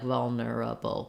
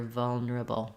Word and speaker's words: vulnerable: so rather than nura those two syllables go fairly quickly and you'll hear people saying vulner um there is you know we can't go directly from the N to the R so that syllable is a tiny bit there but just notice that you don't want to be too slow like vulnerable but rather vulnerable vulnerable these two go very fast and kind of get squished together um if that was